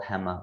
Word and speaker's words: Hema: your time in alibaba's i think i'm pronouncing it right hema right yep yeah that's exactly like that's exactly right so yeah the alibaba